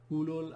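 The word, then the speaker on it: أولو: Similarly, this muzakkar plural, the use in Quran is, we are I think all familiar, ulul albabi. So rather than zahu, it's ulu. This wo is not pronounced.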